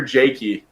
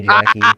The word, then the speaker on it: Jaky: Is it pronounced Jaky or Jaky? Oh, it's Jaky, but you can say Jackie.